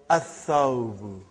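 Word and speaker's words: الثوب: So, brother, whenever there is a sun letter, you will not pronounce lam. You will not pronounce lam. Tha, what is the noun given? Athawbu.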